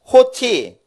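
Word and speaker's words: ὅτι: 그래서 9절의 앞에 그런즉 호티 어떻게 생겼냐면요 점이 이렇게 뒤집어져서 있으면은 5자 발음이 아니고 h자 발음이 나요. 그래서 그냥 5자 발음이 나야 되는데 이게 점이 붙으면은 H 발음이 나요.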